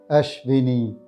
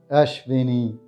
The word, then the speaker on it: Ashwini: this is how we pronounce the name Ashwini ashbini ashvini ashvini please subscribe to the channel thank you